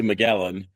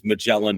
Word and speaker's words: Magellan: In in Europe and abroad, it's usually Muelan. Uh and uh but the the pronunciation is Mellin Jets.